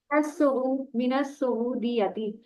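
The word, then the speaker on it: من السعودية: मता मता हजरता मिनल मता हजरता मिनल सऊदियाती मिनस सऊदीयती, ये सीन जो मिनस है शमसी में से है, इसकी लाम साइलेंट होगी शुरू वाली ना।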